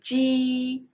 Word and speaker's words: ji: But then when you pronounce ji, your face, it's a smiling face.